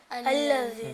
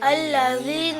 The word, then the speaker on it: الذين: الذي. جیم نکال رہے ہوتے ہیں یا زا نکال رہے ہوتے ہیں، جبکہ یہ غلط ہے. اور صحیح تلفظ کیا ہے؟ الذین. کیا ہے؟ الذين.